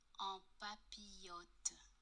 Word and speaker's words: en papillote: What we're making is vegetables in parchment, or as it's pronounced correctly, En papillote.